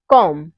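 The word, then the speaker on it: comb: वहां पे साइलेंट होगा जैसे है एग्जांपल कॉम बम थम डम यहां पे जितने भी वर्ड है इन सब में क्या आ रहा हुआ है इन सब में एम के बाद बी आ रहा हुआ है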